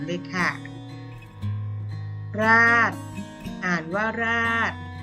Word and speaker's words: ราษฎร: ค่ะ ราด อ่าน ว่า ราด คำ นี้ โดย ชฎา กับ รอ เรือ เป็น ตัว การันต์ เรา จะ ไม่ ออก เสียง นะ คะ ราษฎร คำ นี้ ไม่